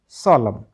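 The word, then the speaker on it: solemn: एम एन कॉलम कॉलम एस ओ एल ई एम एन सोलम तो सोलमन नहीं पढ़ना कॉलमन नहीं पढ़ना डेमन नहीं पढ़ना ठीक है क्योंकि एन तो साइलेंट है अब बात कर लेते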